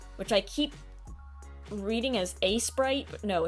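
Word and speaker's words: Aseprite: This is Asprite, which I keep reading as a sprite, but no, it's Asprite.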